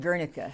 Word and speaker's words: Guernica: We pronounce it Guernica.